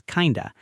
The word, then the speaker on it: kind of: In casual speech, you may hear kind of pronounced as kinda.